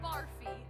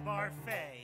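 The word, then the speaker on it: Barfée: season's tragic setback William barfi it's pronounced barfay there's an accent I'm not sure who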